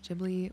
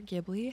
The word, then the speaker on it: Ghibli: home plot tour in Pia which has been jibli or gibli however you choose to pronounce it inspired the Clutter of hows moving